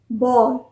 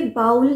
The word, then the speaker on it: bowl: पास कर सकते हैं दोनों में से कोई भी बाउल नहीं है यह चीज हमेशा ध्यान रखिए बी ए डब्लू एल भी बाउल नहीं है और बी ओ डब्लू एल भी बाउल नहीं है बी ए डब् एल बल बल और बी ओ